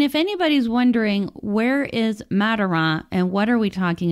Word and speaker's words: Madiran: And if anybody's wondering, where is Mataron and what are we talking about? That is in France. Yes. And you spell it Madiran.